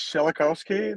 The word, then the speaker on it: Shelokovskiy: your last name for everybody oh yeah that's schelikowski that's kind of tricky so i wouldn't spell that out for you so we got it